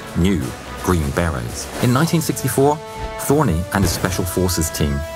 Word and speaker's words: Thorne: He changed his name to Larry Thorne, although he preferred the hybrid pronunciation Thorny.